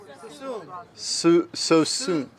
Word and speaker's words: Suisun: How do you How do you pronounce susen? So soon. So soon.